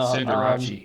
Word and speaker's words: Cinderace: I'm sorry, Cinderace? Cinderace. Sorry. Thank you. Keep going. No, Cinderace is how it's actually pronounced. is it really?